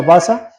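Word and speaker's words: בזה: El menosprecio, igual en el hebreo, en el 959, que se pronuncia basa, la quiere decir desestimar, abatir, desechar, despreciable, despreciar, tener en poca estima, menospreciar, poco útil.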